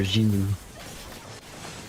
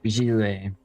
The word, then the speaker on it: Zhiliu: What I need for Zhiliu. Uh-oh. Or Zhiliu. That's better. That's the pronunciation.